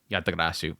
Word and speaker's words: Yatagarasu: think I got it anywhere else I love yatagarasu I I thought it was a phenomenal series and I'm going to spell it out because everybody goes what is he